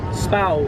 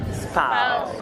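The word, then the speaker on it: Spui: Spow Square. Spow. It's spelled Spooey, but it's pronounced Spow.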